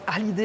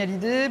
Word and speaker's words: Hallyday: Alors tout le monde prononce Hallyday avec un H aspiré parce que, évidemment, il est américain.